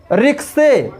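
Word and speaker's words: ricochet: रिक्शे, रिक्शे मिस होता है टप्पा खाना। बुके, बुके मिस होता है गुलदस्ता। इन शब्दों में भी टी साइलेंट है।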